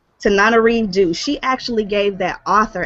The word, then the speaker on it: Tananarive Due: You got to pronounce her name for me again. Tananarive Due. Tananarive Due.